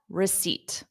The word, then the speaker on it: receipt: job Jaden and Sahar the p is silent there is no p no P excellent job great listening okay I don't need a receipt now you know the